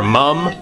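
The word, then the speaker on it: múm: from this band called Mo or mum m u m with an accent on the U and a teres of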